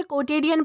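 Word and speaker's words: quotidian: दोस्तों, इसे कोटेडियन प्रोनाउंस किया जाता है जिसका मतलब होता है रोजाना का यानी कि सामान्य या फिर रोजमर्रा।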